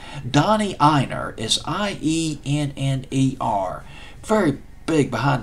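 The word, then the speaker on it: Ienner: I never could pronounce his name. Donnie Einer is I-E-N-N-E-R.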